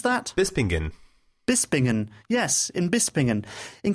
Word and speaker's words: Bispingen: How do you pronounce that? Bispingen.